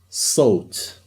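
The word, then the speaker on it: صوت: And we have sot. Sot means sound. There's a sa at the beginning. So, oh. You can even notice, for example, the we follows the shape of the mouth.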